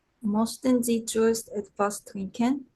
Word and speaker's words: möchten: 신보혜 씨, Möchten Sie zuerst etwas trinken? 모스텐이 아니고 möchten.